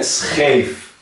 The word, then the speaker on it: scheef: Que se pronuncia como SG gutural.